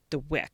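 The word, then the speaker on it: Dweck: The growth mindset was actually coined by a psychologist, Carol DeWick, that's how you pronounce her last name.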